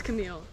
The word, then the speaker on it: Camille: It's Camille. Camille. Okay, and that was pretty close that time. Camille. Usually it says Camille. That's the Indian pronunciation.